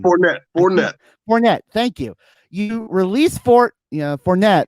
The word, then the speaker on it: Fournette: You essentially give, are letting, you release Leonard Fort, Leonard Fort Fonte. I cannot say his name. Fournette.